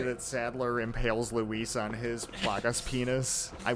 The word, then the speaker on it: Luis: Louis! Louis! Even in death, I can't pronounce your name correctly. It should be Luis. Because he's Spanish.